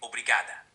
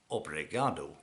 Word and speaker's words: obrigado: If you're female, you'd say obrigada. Obrigado.